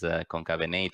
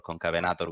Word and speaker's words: Concavenator: Obviously, you can pronounce it as Concavenator or Concavenator, which is the Latin pronunciation.